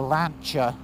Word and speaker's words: Lancia: rallies i bought a lancia delta or lancher as it's supposed to be pronounced hf hf turbo it